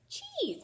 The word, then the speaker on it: cheese: you see this word let's sound it out ease cheese maybe you like to eat some cheese so again this is a silence so i don't hear it and if i move